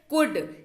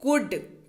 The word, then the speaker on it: could: तो ल का जो उच्चारण है वो इसमें नहीं होता है।